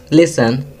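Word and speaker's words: listen: Third, लिसन, T silent है।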